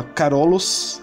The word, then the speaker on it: Carolus: sua homenagem, já que seu nome do latim se pronunciava Carolus, então daí provém o termo Império Carolíngio, sacou?